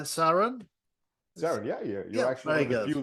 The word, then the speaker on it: Saran: go so did I say your name right Saron SAR yeah you're actually VI that could pronounce it really good oh good okay fantastic